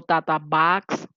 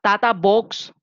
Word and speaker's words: TATA box: se llamaba tata o tata backs lo pueden pronunciar como ustedes quieran la tatabox o tata Box o la caja tata es la secuencia menos